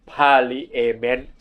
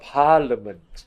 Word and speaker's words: parliament: ที่ tricky นะ ครับ ถ้า เรา อ่าน กัน ตาม ตัว อักษร เรา อ่าน parent ถูก มั้ย แต่ ว่า มัน ต้อง อ่าน ว่า parliament parliament อ่า parliament House